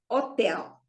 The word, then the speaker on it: hotel: as in Portuguese so the word Hotel in Portuguese it will be Hotel the stress is on the last syllable because it ends with the L remember l r z so Hotel all right so the H is completely as if you know it didn't need to be there at all so it is up